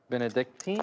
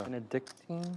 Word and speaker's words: Benedictine: Benedicting. Is that how you say it? It's probably a Yeah, Benedictine.